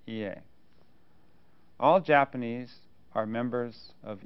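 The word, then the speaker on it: 家: Ie, pronounced ie.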